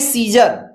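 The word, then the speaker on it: Caesar: यहाँ देखिए सीजर, सीजर में अ साइलेंट है, ए का साइलेंट हो गया सीजर। सीजर मीन्स रोमन सम्राट का नाम सीजर था।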